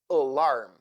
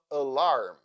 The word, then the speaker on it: alarm: sound like schw sound a as sound alarm the first syllable is unstressed that is why a sounds so a a a alarm balloon the first syllable